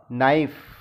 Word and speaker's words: knife: नाइफ, KNIFE नाइफ, चाकू। नाइफ में के साइलेंट है, डब्ल्यू से रॉन्ग, लेकिन डब्ल्यू इसमें साइलेंट लेटर है।